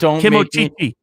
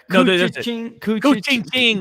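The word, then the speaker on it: Koochiching: Don't Kimochichi. No. Kuchiching. That's it.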